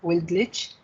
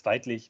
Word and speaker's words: Weidlich: It's Weidlich, but I understand that as a German, of course, this is a bit difficult to pronounce, as are a lot of other languages names for me.